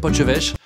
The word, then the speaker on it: potjevleesch: Pour moi ça, c'est une wassingue, j'adore les crêpes à la bière, et je sais prononcer poche-vêche.